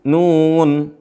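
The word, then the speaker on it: ن: Ini semua dibaca 6 harokat. Berapa? 6 harokat, 6 ketukan. Makanya dibaca panjang.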